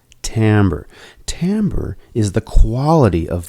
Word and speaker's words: timbre: call these differences tambour now it looks like it's spelt timbre but it's pronounced tammer Tambor is the quality